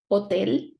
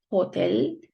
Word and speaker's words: hotel: Hotel. It's not hotel, it's hotel. We just ignore the H. We have to put it there, we have to write it, but we don't pronounce it.